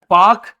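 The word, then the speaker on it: Palk: Governor थे जिनका नाम है रॉबर्ट पाक। जिसमें एल होता है साइलेंट जिसकी वजह से पढ़ने में या हिंदी में लिखने में क्या ही लिखा जाता है?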